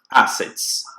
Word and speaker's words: assets: Assets. Assets ou assets? Depende, as duas pronúncias estão corretas. Uma pronúncia mais britânica vai falar assets.